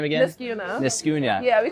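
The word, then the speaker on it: Niskayuna: How do you pronounce the high school name again? Niskuna.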